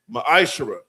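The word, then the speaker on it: ma'aser: The book of numbers chapter 18 verse 21 book of Malachi chapter 3 8-10 means 10th in the Hebrew is pronounced maishara 10% of every penny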